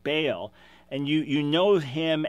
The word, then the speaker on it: Baal: as a proper name be AAL you nearly pronounce it Bale and you you know